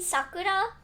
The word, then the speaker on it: Sakura: the u I know a lot of people in America also say Sakura as Sakura. I like saying Sakura cuz it feels a bit more like the Japanese pronunciation.